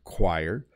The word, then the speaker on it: choir: for example chorus yeah so choir uses the qu sound choir and chorus uses the hard k sound chorus very interesting a with